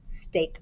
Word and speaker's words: steak: the grill steak hey we're going to use the ea spelling pattern here steak this is like the meat that you eat steak our vowel digraph the e is silent and the a says its name and that's a little tricky so i'm going to code it with the heart because sometimes this ea says e but here it says a